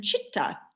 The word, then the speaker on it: chitta: first word and then chitta see it's phonetically a ch sound so c-h-i-t-t-a chitta is mind our mind